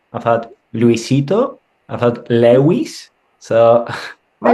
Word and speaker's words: Lewis: But it's Lewis, like Lewis Hamilton, easy. Yeah. Did they ever call you Luis? Not so much. I've had Luis, I've had, I've had Luisito, I've had Lewis.